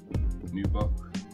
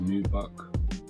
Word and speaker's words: nubuck: pretty sick suede nubuck new buck i'd like to say that's new buck on the mud guard